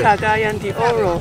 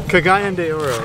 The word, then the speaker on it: Cagayan de Oro: Cagayan de Oro. Cagayan de Oro, right.